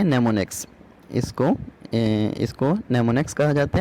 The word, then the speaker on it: mnemonics: It is pronounced as नेमोनिक्स।